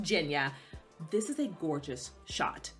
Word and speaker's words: Genya: pronounced jinya i was calling her genya for the longest time it was pronounced jenya this is a gorgeous